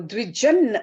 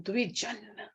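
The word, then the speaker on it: द्विजन्: Dvi means two. Jan means birth. So Dvijan, actually, that is the correct pronunciation. Dvijan, twice born.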